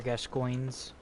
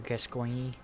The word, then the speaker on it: Gascoigne: you can get Father Gascoigne's stuff from it. Or Gascoigne. Depends on how you want to pronounce his name.